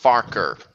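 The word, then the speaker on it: Farquhar: hello phineas it's renaeus to you was actually pronounced farker we didn't actually know but thanks so unlucky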